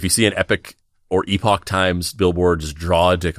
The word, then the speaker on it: Epoch Times: campaign and they also changed the pronunciation of the thing from Epoch Times to Epic Times.